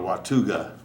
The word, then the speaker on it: Watauga: I'm saying it right w-a-t-a-u-g-a -w-a-t-a-u-g-a well would you how would you pronounce that I pronounce it watuga wakuga yeah watuga I